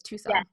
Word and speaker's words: Tucson: call it tucson yeah tucson it's spelt like tuxen isn't it but it's tucson so like you've gone